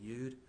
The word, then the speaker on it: Youde: head of officer edward youde have i mispronounced this or Proust it correctly is it you'd or yelled you you'd thank you but he has